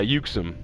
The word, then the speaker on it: Uxum: Uxum? Okay, good. If I felt like it was just one syllable, it should be Uxum. But I just wasn't sure.